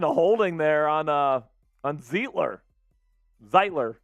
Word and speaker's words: Zeitler: Zeitler, I think is how you say it. The Zeitgeist.